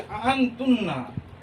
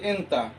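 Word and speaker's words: أنت: আনতুন্না, আনতুন্না হচ্ছে আরবিতে মহিলাদের ক্ষেত্রে ব্যবহৃত হয়। আরবিতে আন্তা, আন্তা মানে হচ্ছে তুমি, এটা লোকাল উচ্চারণ হচ্ছে এন্তা, কিন্তু যে ক্লাসিক্যাল আরবিক যে কোরআনের আরবি তাতে হচ্ছে আন্তা।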